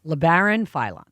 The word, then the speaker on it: Labaron Philon: Labaron Philon.